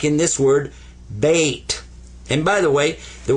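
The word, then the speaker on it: بيت: sakon uhh what's a suon suon means don't pronounce it but give it some value anyway this is bait bait house bait house now so that you'll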